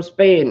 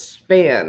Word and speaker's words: Span: I said it was from Spain. It's not. It's Span, S-P-A-N.